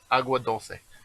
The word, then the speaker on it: Agua Dulce: Well, okay, so I mispronounced it. It would be agua. Agua dulce.